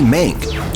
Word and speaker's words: Mank: I still can't pronounce that name, Mr. Kane. It's Mankiewicz, Herman J. Mankiewicz, aka Mank, and he's one of the most influential screenwriters of Hollywood's golden age.